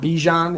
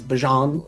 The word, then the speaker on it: Bijan: Did you also see the video of him pronouncing his first name not Bijan, is Bajan?